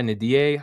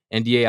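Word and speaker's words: N'Diaye: Eli Nadier, I feel like I'm saying his name wrong. NDA, I think is how you pronounce it.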